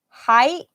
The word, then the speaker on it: height: same in this case and height will rhyme with white yeah oh yeah I guess